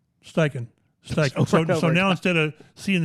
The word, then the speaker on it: Steichen: say station right and I went on YouTube or Google and it was President pronunciation of steichen and you click it on and it's like 10 seconds of it's stiking staking so now instead of